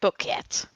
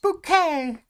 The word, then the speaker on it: bouquet: life and seize there where it's pronounced Boke says Greg sorry boket well it's no no it is it is it's pronounced bouquet because the the wife of someone whose last name was bucket um was uh trying to be like high class within a sitcom um and then there